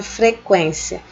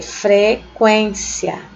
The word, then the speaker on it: frequência: Você vai ler frequência, tá? Frequência, quen. Esse U aqui, ele não é pronunciado, certo?